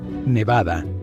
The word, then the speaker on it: Nevada: Los locales enfatizan el bad en Nevada. Mientras tanto, la gente de fuera dice BA nevadenses, nevadenses, no te reprocharán si te equivocas.